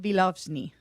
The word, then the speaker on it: Vilozny: I'm going to try to pronounce this name correctly. Vilozny.